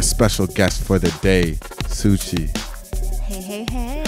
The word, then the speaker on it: Suci: It's not Sucky. It's not Suki. Suci. Like Gucci with an S.